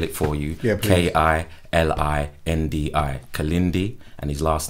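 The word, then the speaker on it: Kilindi: I'll spell it for you. Yeah, K-I-L-I-N-D-I. Kalindi, and his last name is E, spelled I-Y-I.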